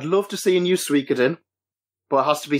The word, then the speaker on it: Suikoden: I've always pronounced it Suikoden because there's the Japanese word Suika, which is spelled S. In English, it would be spelled S-U-I-K-A. Mm-hmm. So I've always pronounced it Suikoden based on that.